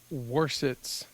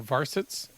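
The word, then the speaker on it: Warsitz: by erns uh Eric waret or vset it's a w so it's pronounced a v um this flight which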